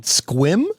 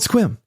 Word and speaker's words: Sequim: Sequim? Yes. It's not Sequim. It's Sequim. It's called Sequim. I drive through it when I go to see the people, the family. I don't believe you. It's called Sequim.